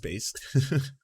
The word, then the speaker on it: Bass: that so you know lance bass pronounced bass didn't should do a